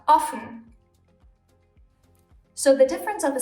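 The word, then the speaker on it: Offen: If we add another F to it, the O suddenly becomes short, and we have Ofen.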